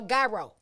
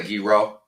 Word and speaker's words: gyro: Look, do you say Giro or Gyro? I say Giro. I still do it, even though I know that's not the right pronunciation.